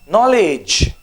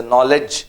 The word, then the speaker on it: knowledge: Knowledge. Okay. Knowledge. Okay. Some people say knowledge. Anyways. Okay. Knowledge or knowledge. Okay. Either ways.